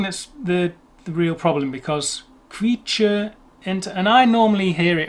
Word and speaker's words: Quietscheentchen: How's it pronounced, German me? Quietscheentchen.